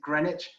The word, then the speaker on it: Greenwich: On the right, you can see Greenwich, as it's spelled, but we pronounce it Greenwich.